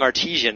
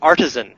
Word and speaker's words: artisan: while we mispronouncing words I'm constantly saying artisian as though it's a bread it's Artisan Artisan there's only one eye that word so our next podcast